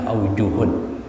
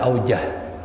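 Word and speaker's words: أوجه: muanasnya duanya wajhani jamaknya ajuhun ya Lun ini dalam kitab ful Muin sering sekali ungkapan aujuh bacanya ajuh tapi ada sebagian membaca aujah ini beda kalau aujuh ini beberapa pendapat dari ulama-ulama mazhab Syafii Tapi kalau auja ini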